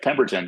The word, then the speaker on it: Pemberton: We have is it Pemberton? Is that how you pronounce it? Yep, Pemberton.